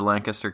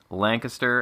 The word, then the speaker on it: Lancaster: to discuss this because we've both been to Lancaster County p and we know that it is pronounced Lancaster and not not Lancaster thank you thank you